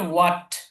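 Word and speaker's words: what: কিন্তু এই উইলের শুরুতে একটা ওয়াট, WH8, ওয়াট, ওয়াট, ওয়াট। খেয়াল করুন এটা ওয়াট, উচ্চারণটা কি হবে, ওয়াট। এটা অনেকে হোয়াট বলে, হোয়াট না, এটা ওয়াট, ওয়াট, ওয়াট।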